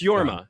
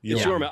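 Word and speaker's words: Jorma: So, according to creator Tone, am I pronouncing that right? Yma, I think it's just Yor Yorma. Yma. It's Yorma. Yorma.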